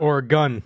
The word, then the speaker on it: Oregon: Or a gun.